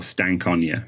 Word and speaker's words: Stankonia: of naivity I was listening to outcasts album Stankonia or stank Ona if you want to pronounce it the way it's meant to be